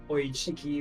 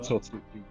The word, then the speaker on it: Otsutsuki: continues because you have these new villains, the Oichiki, whoever you pronounce them, I can't remember. Otsutsuki.